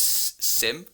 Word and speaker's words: SIEM: yeah I think the the normal kind of way to pronounce it in Huntress probably is Sim which sounds odd to